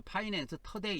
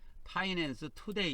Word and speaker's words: 파이낸스 투데이: 그리고 파이낸스 투데이, 뭐 이거 영어로 원래 발음할 때는 투데이 이렇게 발음 안 하고 터데이 이렇게 발음하지 않아요. 그러니까 파이낸스 터데이 이렇게 해도 됩니다. 그러나 뭐 정식 명칭은 파이낸스 투데이 이렇게 부르는가 봐요.